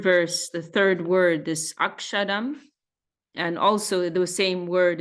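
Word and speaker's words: अक्षरम्: the third word this akshadam and also the same word is there in the first verse second line um which means imperishable referring to Brahman so so Bengali style pronunciation drops that s so as you hear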